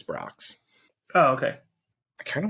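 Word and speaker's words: Brach's: now rocks oh it's Brock's it's Brock's It's gotta be Brock according to one of their own commercials it's Brock's oh okay I kind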